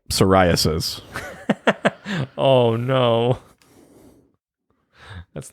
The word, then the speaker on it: psoriasis: there we go yeah it's a silent p like psoriasis oh no that's not